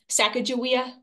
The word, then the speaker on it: Sacajawea: Hidatsa name, so again, Sacajawea is the kind of the Shoshone pronunciation. Sacagawea is more of the kind of an Englishized version of Sacagawea, which is the Mandan and Hidatsa pronunciation, or what they called her.